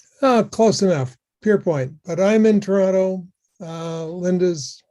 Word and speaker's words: Pearpoint: Next is Pearpoint. Did I pronounce it correctly? Close enough. Pierpoint, but I'm in Toronto.